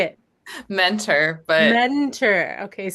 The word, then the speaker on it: Muenter: Mentor, but Mentor.